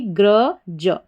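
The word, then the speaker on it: grudge: यहाँ पर GRU को पढ़ा गया ग्र, ठीक है। GR को ग्र पढ़ा जाता है और यू का भी अ साउंड आता है, तो ये GRU बन गया ग्र। और DGE हमारा कोड है, इसको आपने पढ़ दिया ज। तो पूरी स्पेलिंग हमारी क्या बन गई? ग्र ज, ग्रज।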